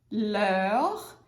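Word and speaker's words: leurs: Leur, leur e leur. Uhul! Super, né? Tudo igual, mesma pronúncia, tem um S a mais, a gente não pronuncia.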